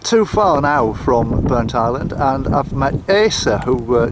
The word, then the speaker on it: Burntisland: But why have they split it into two syllables, like Burnt Island? Why is it all one?